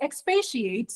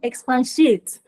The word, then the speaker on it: expatiate: not Keno ah wow so that word is expatiate not expans shate that word is fluctuate